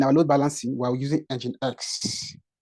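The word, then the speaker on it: nginx: load balancing we using engine X pronounced as engine X engine X pronounced as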